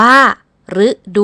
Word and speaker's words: ฤดู: ดู กัน นะ คะ แบบ ที่ 1 อ่าน ออก เสียง เป็น รึ อย่าง เช่น มี คำ นี้ อ่าน ว่า ฤดู นะ คะ หมาย ถึง